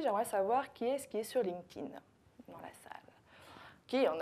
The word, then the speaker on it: LinkedIn: Juste LinkedIn. Donc on fait un K, on met le T et on oublie le E, LinkedIn.